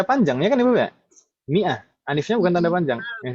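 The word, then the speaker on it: مائة: Mi'ah itu yang ada alifnya. Jadi orang alifnya ini alif fariqah. Jadi orang nggak bingung kalau tulisannya seperti itu, berarti bacanya mi'ah, bukan minhu atau yang lain.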